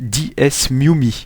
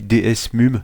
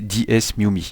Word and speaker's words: DeSmuME: Oui, alors en fait excusez-moi pour la prononciation, mais il me semble que ça se prononce DesMuMe. Oui parce que lorsque j'ai tourné mon intro j'ai dit DS mum, mais en fait c'est DesMuMe.